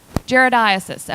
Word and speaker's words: Giardiasis: Giardiasis.